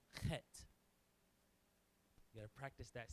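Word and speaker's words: ח: That one, you gotta get the back of the throat. It's a guttural pronunciation. It's an H, but it's a hard H. It's pronounced chet.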